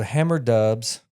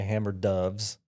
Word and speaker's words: Hammer Dubs: me the the name so hammer dubs and I'm gonna spell it it's h a m m e r du BS some people say hammer does so uh my son